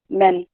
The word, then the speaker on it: men: see dot so it means it's a short vowel e like in lead it the third is a sometimes i hear people say mean but it's men a a sound a